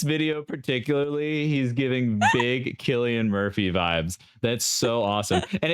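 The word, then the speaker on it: Cillian Murphy: the scenes Vibe um also chillan Murphy what's his name selan Murphy how do you pronounce thatan Murphy Killian Murphy that's what he looks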